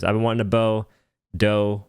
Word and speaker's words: Dough: been wanting a bow doe rhymes with bow called the o boat